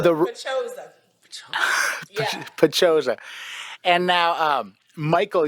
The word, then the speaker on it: Paczosa: I don't know how, I still don't know how to pronounce his last name. Yeah, he was our engineer. But this Pachosa. Pachosa.